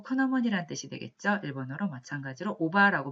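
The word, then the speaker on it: 伯母: 일본어로 마찬가지로 오바라고 발음을 하고요.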